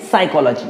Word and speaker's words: psychology: See, psychology begins with the P, but the pronunciation of this word is psychology.